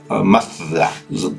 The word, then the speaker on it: Mazda: que no estaba bien, porque no es con S, es con Z. Y funcionaba el motor con esa S. Tal vez la pronunciación así españoleta, ¿sí? Es Mazda.